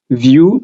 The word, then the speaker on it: Vue: Vue, V-U-E, pronounced Vue.